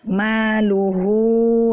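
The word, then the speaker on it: مَالُهُ: berhenti pada kalimat seperti maluhu wa ma kasab. Nah, kita ingin berhenti pada maluhu ya. Jadi kita baca maluh ya.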